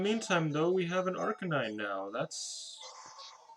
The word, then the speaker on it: Arcanine: now that's it's exciting an rk9 i don't know which way it's supposed to be pronounced despite playing these games since being a small child arcanine is like the way that everybody usually pronounces it but you know it's